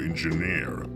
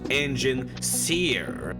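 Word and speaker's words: Enginseer: You told me she was your engineer. It's pronounced engine seer.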